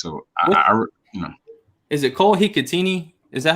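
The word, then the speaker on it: Hikutini: So I Is it Cole Hikatini? Is that how you say it? That's it, Hikatini.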